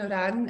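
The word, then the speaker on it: Ourian: to be like that but yeah dr simon iran is how you pronounce that and he's a very very popular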